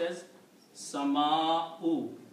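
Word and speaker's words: السماء: The second change will be that Sin is a Shamsi letter. It kills the sound of Lam. So you do not pronounce Lam, you pronounce Sin 2 times. So it will be As-Sama'u. Okay? You don't pronounce Lam, but Alif will be combined with the Sin with the Shadda.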